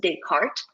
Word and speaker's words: Descartes: name of the actual scientist and philosopher is pronounced Descartes and because of um it becoming latinized and